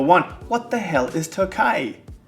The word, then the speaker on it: Tokaji: Even if it's phonetically spelled as Tokaji, it's pronounced Tokaji.